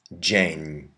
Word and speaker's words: dzień: You can put a D before your Z with a dot, Z with a slash, or ZI, and those say J, like our English J or soft G.